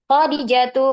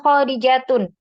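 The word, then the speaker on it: خَدِيجَةُ: Isim yang tidak bertanwin sama dengan Fatimah ya. Khadijatu, maka tidak boleh dibaca Khadijatun.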